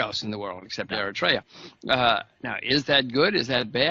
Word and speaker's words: Eritrea: I don't even know if I'm even pronouncing it correctly. Yeah, Eritrea. Yeah, Eritrea, right.